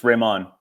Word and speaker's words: Rehman: So it's Rehman.